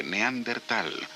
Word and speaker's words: neandertal: el tiempo sin embargo la pronunciación más aceptada hoy es la de neandertal sin h los restos de unos